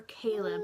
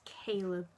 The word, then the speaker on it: Caleb: I think Caleb is better as a first name because it has a very strong emphasis on the first syllable.